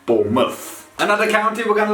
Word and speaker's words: Bournemouth: want to watch it when the word mouth is added at the end of a word of a location it turns into muff which is muff bournemouth another county we're going